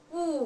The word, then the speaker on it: 不: We pronounce it, no, it's 不.